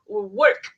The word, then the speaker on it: WORQ: But the name is actually WORQ, WORQ, spelled with a Q.